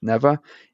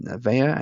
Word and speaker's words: Nevea: The one you will notice in here for sure is I pronounced Nevea kingbird. I pronounced it incorrectly as Neva. It is pronounced Nevea, and I do apologize to her and her family.